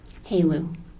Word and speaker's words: HALEU: Haleu.